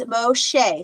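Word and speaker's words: משה: Moses and so the the hey at the end is silent again so it's Moshe so that's one of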